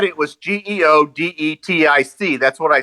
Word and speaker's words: geodetic: GEODETIC. That's what I said. But you're saying Don't strawman me. Don't but you're saying strawman me. geodetric. You're saying geodetric.